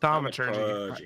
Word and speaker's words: thaumaturgy: I'm gonna use thermogology. How do we pronounce that? Thaumaturgy. Thaumaturgy.